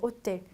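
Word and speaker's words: hôtel: 호텔은 H 발음 없죠. 그리고 L은 끝자음이지만 발음을 많이 하는 단어라고 했죠. 호텔의 불어 발음은 오텔이라고 해요. 오텔. H 발음 없어서 오텔라고 읽어주시면 되고, 자, 세 번째 R은 끝자음이지만 발음 많이 한다라고 말씀드렸어요.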